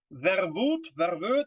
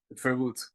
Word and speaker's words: Verwoed: Verwoed. Verwoed. Okay, so yeah, the O-E is U in English, right? In Dutch. Yeah, right? you nailed it, basically. Yeah, first try.